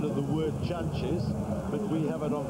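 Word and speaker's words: Jantjes: Now one of the uh things that people may contend is the pronunciation of the word chunches.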